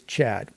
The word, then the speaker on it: tCHADt: It's tCHADt. But the T's are silent, so you just pronounce it as Chad.